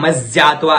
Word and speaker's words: मज्जात्वा: फिर है मज्जात्वा, है में यह जुड़ा हुआ है और इसका उच्चारण इस प्रकार करना है मज्जात्वा, मज्जात्वा है और यह का उच्चारण होते हुए मज्जात्वा विशंतविन, विशंतविन दवाह।